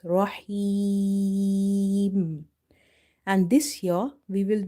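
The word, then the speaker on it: الرحيم: kasra, then it means this ya is maddah. Maddah letters are such letters which we read by stretching them up to one alif. So, here we have to say rahim.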